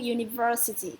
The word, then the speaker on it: university: You, okay, starts with U university.